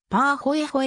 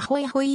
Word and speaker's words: pāhoehoe: 太陽はもう刺し発音はパーほえほえに近いが日本では一般的にはホイホイ溶岩が広く用いられるぱホイホイ溶岩は